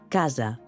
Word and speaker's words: casa: amb mi: casa, metgessa, casa, metgessa. Casa. Metgessa. Ho heu vist? Si ho heu fet bé, haureu notat que quan pronuncieu la essa de <i>casa</i> el coll vibra, cosa que no passa a <i>metgessa</i>.